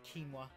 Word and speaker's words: quinoa: but I was like waiting for you to read that word just to see if you would pronounce it correctly what is it it's quinoa quinoa food for me butoh